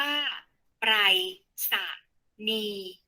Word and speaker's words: ไปรษณีย์: ของ ติด ตาม อาทิตย์ คำ ว่า ไปรษณีย์ ว่า ไป สนี หมาย ถึง วิธี การ